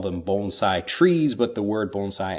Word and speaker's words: bonsai: what you're talking about I also like having learned the correct pronunciation since I've come to Japan bonsai instead of like bonsai bonsai which is actually a different thing in Japan when people